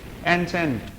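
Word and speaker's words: enchanté: एंचेंट, खुशी को दिखाता है, nice to meet you, glad to meet you, एंचेंटे pronunciation होना चाहिए इसका।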